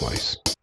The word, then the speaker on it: Weiss: Maybe Weiss or Wiss. How did I pronounce that again? Yeah, it was Weiss.